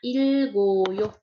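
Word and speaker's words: 읽어요: Nah, di sini huruf G-nya ya, itu harus pindah ke oyo. Jadi G ini pindah ke sini. Makanya bacanya ilgoyo.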